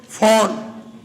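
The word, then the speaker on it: Föhn: दर्पण का प्रयोग होता है अवतल अगला आइए फोन अगला लिखो फोन फोन लिखिए फोन फन एफ ओ एच एन H silent होता है फन में साइलेंट है एच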